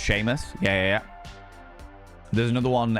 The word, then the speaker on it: Seamus: Seam Seamus, but it's pronounced Sheamus.